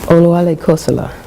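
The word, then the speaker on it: Oluale Kossola: And how did you pronounce the last enslaved African? You said Cole? Oluwale Kosala.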